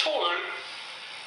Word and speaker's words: To Øl: Jakob and Pierre, to tell you how to pronounce it. It's Tool Sort Mælk, which means black.